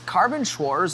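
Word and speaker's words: Carbonschwarz: It's carbonwors metallic. That's how you pronounce that.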